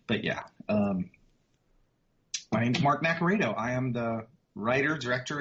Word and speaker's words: Naccarato: Yeah, it's pronounced Naccarato. That's the Americanized pronunciation of it. It's Italian, so it's pronounced differently over in Europe. But yeah, my name's Mark Naccarato.